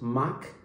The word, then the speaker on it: macchiato: The caramel macchiato, pronounced mach-i-a-to, is brewed espresso cold milk in a swirl of caramel flavor.